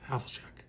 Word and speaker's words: Havlicek: Is that how you pronounce that? Havlicek.